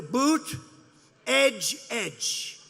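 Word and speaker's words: Buttigieg: touch and they said here's what you do boot edge edge say edge like the edge of a building edge edge who did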